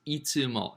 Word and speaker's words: いつ: Always is itsumo. Now, do you remember we learned how to say it? Mario says when? Mario says, itsu time to go. When is it time to go, Mario? Itsu now, a time to go.